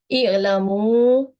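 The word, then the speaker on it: اعلموا: So here how we should pronounce it, i'lamu, and here the kasra example, irji'i.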